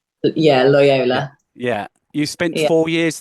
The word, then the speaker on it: Loyola: you pronounce it is Loyola is that you pronounce it lyola yeah lyola yeah you spent four years there you you